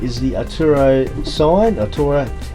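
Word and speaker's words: Atauro: recently um so on my right is the aturo sign it's actually pronounced aturo aturo and there that's been made with bottles I'm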